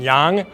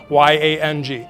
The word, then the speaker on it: Yang: That's how you pronounce it. Yang. That's that other stuff we've been doing. Yang. Y A N G.